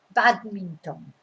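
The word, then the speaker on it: bádminton: in spanish badminton but your your stress is on the bad because that's where the accent is badminton yeah but basically you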